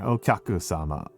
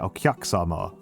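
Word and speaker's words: お客様: There is a U in there. Okyaku-sama. You don't really pronounce... You kind of like underpronounce the U. But yeah, Okyaku-sama.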